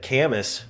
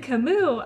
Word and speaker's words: Camus: I would have said canvas that's what I would have said when you said Camus I'm glad I checked yeah that's how that's what they said on Google is Camus yeah I typically just